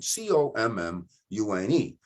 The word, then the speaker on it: commune: verb or noun commune c-o-m-m-u-n-e if we use is it a verb it is to commune we say it that way it's it's pronounced differently as a verb than it is a noun we talk about a